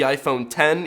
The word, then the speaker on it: iPhone X: And I'm not even gonna get into the fact that OS X is pronounced OS X, but the iPhone X is pronounced the iPhone 10, even though they're both